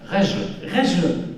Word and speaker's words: Rejl: Alors là, c'est compliqué parce qu'on ne sait jamais comment prononcer son nom. Rejle, c'est juste, bon d'accord, on ne sait jamais si c'est un i, si assieds-toi.